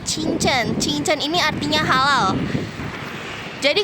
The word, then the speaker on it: 清真: Ini bacanya chinchen.